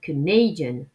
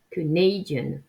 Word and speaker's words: Canadian: Pour la nationalité, c'est l'inverse, c'est la deuxième syllabe qui est accentuée. Canadian, Canadian.